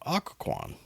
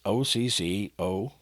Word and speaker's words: Occoquan: So we drove through a town, and I actually made sure that I'm going to pronounce this one correctly, but it's called Occoquan. And it's Occoquan, just for those that aren't familiar.